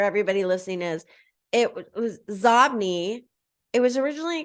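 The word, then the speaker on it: Xobni: listening is it was zobny it was originally called zobny but Bill Gates pronounced it zombie so they changed the pronunciation of the name and it's inbox spelled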